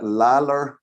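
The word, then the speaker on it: Lalor: it's it's spelled l-a-l-o-r is that lallar or it's not lol or anywhere because there's no w in there so brian anyway sent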